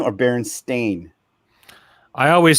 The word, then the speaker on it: Berenstain: like the Berenstein bears what you guys remember Berenstein or Berenstain I always said when I was a kid everybody else pronounced it berenstain bears when I was a